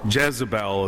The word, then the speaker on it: Jezebel: And this is a section where the prophet Elijah is being chased by King Ahab and Jezebel, or Jezebel as we pronounce her name, being chased around because he's spoken out against evil things that he's seen.